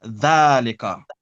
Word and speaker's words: ذلك: So it's written dhalika, but we pronounce it dhalika.